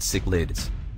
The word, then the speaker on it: cichlids: african cichlids first off cichlids is pronounced sick lids african cichlids are fish